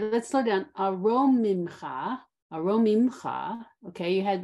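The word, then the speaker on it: אֲרוֹמִמְךָ: Aromimcha. Aromimcha. Okay, you need the ro as the second syllable.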